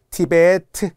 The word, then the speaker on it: 티베트: 이걸 티벳이라고 하면 안 돼요. 플루 안 돼요. 티벳 고원 안 돼요. 플루트 티베트 이렇게 발음을 생각하면서 외우시고 또는 브드그 계열을 유성파음이라고 하는데 몰라도 돼요.